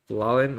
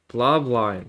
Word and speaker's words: Bloblin: So, but props to Bloblin, or Blolin, what? Bloblin, I think. Yeah, there we go. I said it right that time.